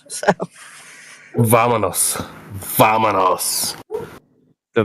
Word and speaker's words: Vámonos: Also, your lips should touch to pronounce the V sound in Spanish. So Vámonos.